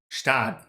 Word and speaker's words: Gstaad: The G is silent. Stad. Gstaad. So Gstaad.